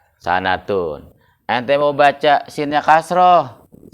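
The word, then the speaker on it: سَنَةٌ: Ente mau baca sinnya patah, boleh nggak? Jadi apa bacanya? Sanatun.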